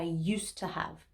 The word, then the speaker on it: used to: it easier to say we actually drop the d sound at the end of use i used to have used to have for